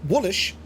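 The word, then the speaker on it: Wylisc: name being derived from the Old English is Wilsic, pronounced Woolish, meaning foreigner or Welshman.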